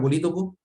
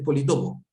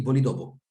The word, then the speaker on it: politopo: encontrar que efectivamente es politopo. Yo lo voy a pronunciar mal todo el rato porque toda mi vida he dicho polítopo. Como polígono, polítopo, pero en realidad es polígono y politopo.